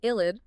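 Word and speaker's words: ylide: An illid pronounced IL8 is a neutral molecule but with formal positive and negative charges on adjacent atoms.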